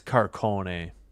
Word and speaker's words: Carcone: It is Carcone.